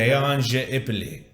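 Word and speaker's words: Beon je Ipille: You're the pronunciation. Beyange Ipoli.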